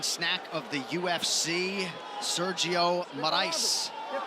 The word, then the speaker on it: Moraes: Sergio Moraes. They'll be pronouncing it more ice later.